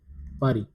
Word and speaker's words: Paris: The pronunciation is Paris.